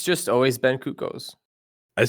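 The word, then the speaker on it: Cucco: and official translation yeah or pronunciation apparently it's always supposed to have been cucko's it's always supposed to have been Cucos I don't know that's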